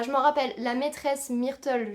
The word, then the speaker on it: Myrtle: me rappelle la maîtresse Myrtle je le prononce à la française de Tom a été